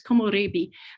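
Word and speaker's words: komorebi: it just sounds ugly so it's komoribi but it comes from uh three syllables or four syllables but three words the first is ko which and next is mori and then there's b and that stands for tree and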